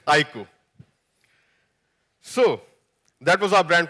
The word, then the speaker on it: iQOO: on and on its iku the pronunciation is iku I emphasize again it's iku so that was our